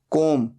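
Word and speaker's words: comb: hanging virus बाल बनाना कॉम को एम बी यहां पर बी साइलेंट होता है सिर्फ बोला जाता है कॉम तीन फॉर्म्स होते हैं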